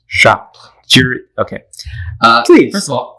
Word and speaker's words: Chartres: It's Charter. But if I say Chartres, nobody's going to know what I'm saying. So, Dad is one of those. but I refuse to pronounce it the American way. It's Chartres.